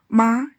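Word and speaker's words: 吗: As an auxiliary particle, ma is always pronounced light and short.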